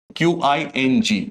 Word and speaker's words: Qing: the dynasty being the Qing Dynasty, that is Qing, pronounced as Qing Dynasty.